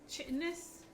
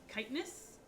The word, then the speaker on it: chitinous: Chitinous, which is actually chitinous. It's a description for a bug. It means having a strong exoskeleton. But I was talking over it when it started, so I'm pretty sure the game mispronounced it as chitinous.